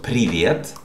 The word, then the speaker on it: привет: So, as I told you, so привет, the stressed syllable is the first one, при, so you can put the stress on it yourself in your notebook.